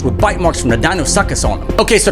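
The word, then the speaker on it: Deinosuchus: bite marks from the dinos sucus on them okay so the right pronunciation for this is a dino suis but no body of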